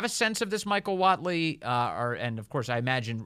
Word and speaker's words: Whatley: Donald Trump has endorsed a man by the name, I think is the last name is pronounced Whatley, Michael Whatley, chairman of the North Carolina Republican Party, to succeed Ronna McDaniel.